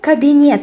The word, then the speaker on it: кабинет: Let's add the word кабинет for rhyme. Кабинет is cabinet in English, so in Russian the stress falls on the last syllable.